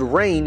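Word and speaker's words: reign: song you'll see that the word rain here is spelled r e i g n instead of rain like from the sky r a i n this line takes advantage of the homophone of rain the water that falls from the sky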